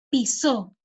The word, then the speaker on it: pisó: Piso, con este acento, ¿no? En la I. Piso. Pero si nosotros colocamos el acento en la O, pisó el césped, pisó, es diferente a piso.